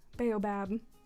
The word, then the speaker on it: Baobab: look I'm saying it right now I've evolved Baobab they make cashier stand up because they say